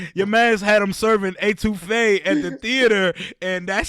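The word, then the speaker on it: étouffée: Etouffee?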